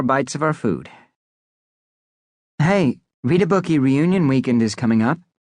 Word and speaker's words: Readabookie: Hey, read a bookie reunion weekend is coming up, Katie said, trying to think of something that would cheer us all up. Camp Readabookie, pronounced Read a Bookie by the way, was the schoollike summer